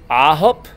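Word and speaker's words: 아홉: Ahop. It's not IHOP like International House of Pancakes.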